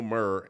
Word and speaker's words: Maher: I always get Bill Barr, Bill Maher, and Bill Maher mixed up.